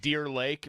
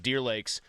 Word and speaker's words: Deer Lakes: Now, he it's so Ali trained, and it confuses people because they think Deer Lake, but they think it's mispronounced and it's just Deer Lakes.